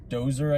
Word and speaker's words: Djoser: I think the J is silent. DJOSER. So Dozer, I guess.